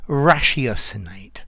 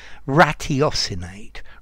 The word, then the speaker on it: ratiocinate: here many people say rationate rationation personally i prefer the sh because ratio three to four ratio but both pronunciations are perfectly valid so uh rasheos inate to think to use